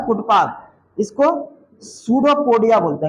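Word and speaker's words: pseudopodia: इसी का दूसरा नाम है कुट पाक इसको सूडो पडिया बोलते है क्या बोलते इंग्लिश में सुडो पडिया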